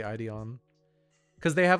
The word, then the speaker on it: Ideon: it's space runaway idion wait I'm trying to think if I'm saying that right because I know some guy will be like um actually it's spelled ID on I think it is actually ideon because they have like